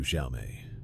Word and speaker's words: Xiao Mei: Who else calls you Xiaomé? It was her voice. Unmistakably her, with a slight accent, warmth, and emphasis on the second syllable of my nickname.